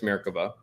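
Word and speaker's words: Merkava: came online and so that's how you say it by the way it's mericava and you can think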